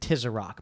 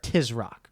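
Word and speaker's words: Tisroc: chapters it's tis rock i said tis a rock but it's tis rock right just two syllables two syllables i think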